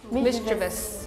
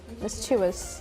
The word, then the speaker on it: mischievous: Mischievous. O, remove the O. Mischievous. This is also a French word, so you don't pronounce the OU.